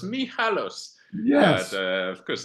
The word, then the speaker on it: Michalos: I asked my Greek friend how to pronounce correctly your surname in Greek, and he said Michalos, Michalos.